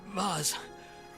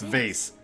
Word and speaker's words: Vaz: Vaz. Vaz? No. No, I'm sorry, your Vaz didn't survive. It's pronounced vase.